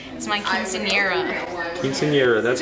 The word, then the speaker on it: quinceañera: my quinceañera.